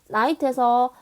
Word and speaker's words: night: 그 다음에 night에서 GH 소리가 나나요? 그렇죠. GH 소리가 나지 않습니다. 두 가지 경우는 지금 묵음이 된 경우고요.